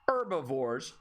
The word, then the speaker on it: herbivores: i wouldn't say that they're herbivores right the h is silent and that check that